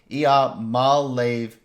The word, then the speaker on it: Iamaleava: Ia is wrong, right? It's Iamaleava.